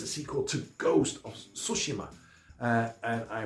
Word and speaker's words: Tsushima: that's actually pronounced and they spelled it out phonetically so I don't call it toshima it's sushima uh so I'm sure that there will be